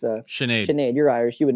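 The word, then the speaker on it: Sinéad: That split decision loss to John Kavanagh's sister, I always mispronounce this. It's not Sinead. It's Sinead. Sinead, you're Irish. You would know. Yeah. Sinead Kavanagh.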